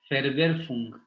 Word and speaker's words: Verwerfung: La forclusión es Verwerfung, porque la W se pronuncia como una V. Verwerfung.